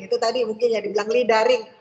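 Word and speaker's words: luring: Itu tadi mungkin ya dibilang lidaring. Bacanya yang benar ya, jangan lidarling ya.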